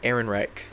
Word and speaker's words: Ehrenreich: But Alden Ehrenreich.